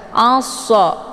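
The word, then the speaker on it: مَعَ الصَّ: Kemudian ma'assa, di sini ada alif lam namanya alif lam asy-syamsiyah. Sesudah alif lam terdapat huruf syamsiyah yaitu shad. Cara bacanya ainnya dileburkan ke dalam huruf shad ataupun dimasukkan. Assa, dan untuk alif lamnya tidak lagi dibaca.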